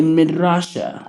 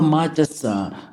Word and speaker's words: madrasa: And he builded in it a midrasha. No. Midrasha. Madrasa. So he journeys there and he makes a school. Oh, madrasa.